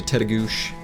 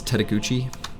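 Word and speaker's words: Tettegouche: Adventures each fall pretty nice get up to tedo which we always used to pronounce as taguchi until a park ranger corrected us and then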